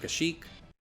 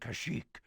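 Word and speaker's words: Kashyyyk: that this game uses the correct pronunciation of kashik defend kashik a lot of games in this era like cotor and even Republic Commando which comes out after this game use the pronunciation kashik and I was under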